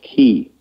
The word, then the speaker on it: Qi: you know key is spelled Q I and I understand from a long time ago was to be pronounced key like K ey but